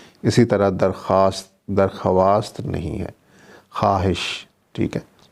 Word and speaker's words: خواہش: طرح درخواست نہیں ہے، خواہش، ٹھیک ہے، اس میں بھی خے کے بعد واو ہے لیکن اس کی آواز نہیں آتی جب ہم اس لفظ